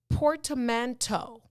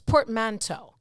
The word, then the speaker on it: portmanteau: or several years later the word is portamento port no it's portmanteau it's spelled p-o-r-t-m-a-n-t-e-a-u portmanteau that's why i knew it was french because the t-e-a-u at the end uh it has two